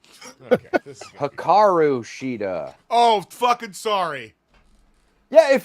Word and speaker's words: Hikaru Shida: So, AEW Dynamite kicked off with Mercedes Moné versus Hiraku Shida. Is that how you say her name? Sure. All right. Okay. Hikaru Shida.